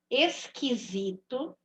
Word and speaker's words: esquisito: Então, são esquisito. Não estou ouvindo o som do U. Estou ouvindo o som do Q e do I.